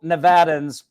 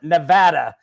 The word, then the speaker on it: Nevada: every DMV, it says, real Nevadans pronounce it Nevada. If you say Nevada, get out.